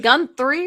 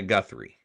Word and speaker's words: Guthrie: I think is it Gun three or Guthrie with Is there an N in there? Savannah Guthrie.